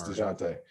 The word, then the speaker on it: Dejounte: I called him DeJounte the other day, and someone yelled at me. DeJounte. No, it's DeJounte. DeJounte Murray. I just want to make sure because I heard you say DeJounte, so I want to make sure.